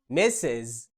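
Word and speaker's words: Mrs: الكلمة الثالثة بتنطق ميسز، الكلمة دي بتحتوي على صوتين متحركين وبالتالي تكون مكونة من مقطعين صوتيين، في فاصل ما بين المقطعين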